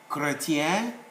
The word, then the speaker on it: chrétien: When CH is followed by a consonant, it is only pronounced as K. So chlorophylle, chrétien, and so on.